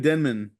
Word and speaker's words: Denman: Denman uh David David Denman um I thought it was denim too oh I've been pronouncing that man's name wrong since I saw the office uh David Denman who